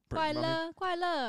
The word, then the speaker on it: 快乐: Kuai Le. Yeah, Kuai Le. Kuai La.